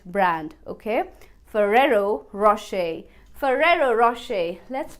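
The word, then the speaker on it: Ferrero Rocher: seventh so when आई वाज आय used तू pronounce this Italian chocolate brand आज फेरी रोकर mummy मेरे को रोकर वाली चॉकलेट खानी है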